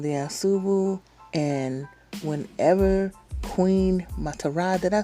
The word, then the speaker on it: Ma'Tarah: me, King Aijalon the Ansubu, and whenever Queen Matara, did I say it right?